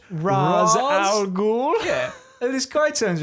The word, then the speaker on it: Ra's al Ghul: Am I pronouncing this right? Ra's al Ghul?